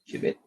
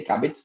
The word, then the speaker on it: Cubbit: First of all, I'm going to make a short walk of, let's say, what is Cubbit or Qubit, the way you want to pronounce it actually, but we say Cubbit, by the way.